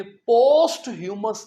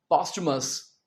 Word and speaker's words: posthumous: और इस वर्ड को आपने पोस्ट ह्यूमस नहीं कहना। क्या कहना है? पॉस्टुमस।